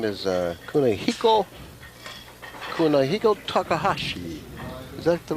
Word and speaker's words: Kunihiko Takahashi: Well, there's a fellow here from uh Osaka, Japan, and his name is uh Kunihiko Kunihiko Takahashi. Is that the right pronunciation?